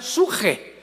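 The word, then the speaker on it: ψυχή: de Pedro, de Samuel, psuche, que en el hebreo se pronuncia suje, porque la CH se pronuncia en hebreo como J.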